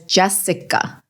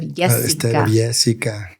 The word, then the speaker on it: Yesica: I don't really know if anybody knows this, but I went all through high school up until my senior year as Jessica instead of Yesica.